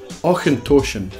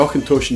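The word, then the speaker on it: Auchentoshan: then not do distillery and the Scottish Highlands or contortion now or contortion is a first pronunciation we're gonna have that CH sound and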